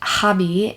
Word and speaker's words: Gabie: And Hobby is actually Gabie, so it's Gabby. It's just like my spelling, which is crazy. I've never met anyone who spells Gabby the way I do, but you pronounce it Hobby because that's Dutch. Like, that's how you pronounce it.